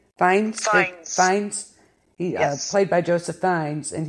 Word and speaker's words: Fiennes: Joseph, how do you pronounce his last name? Fiennes.